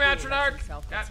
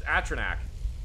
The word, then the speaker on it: Atronach: ah get him flame Atron Arch you got me saying it wrong now too sorry it's just Atronach like Zach but Atronach oh atra Zack I'll